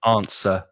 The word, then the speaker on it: answer: very true beginner uh that they say as well answer i answer and i said no no no his answer forget about the w right with the schwa at the end so answer sound answer and right pedro says right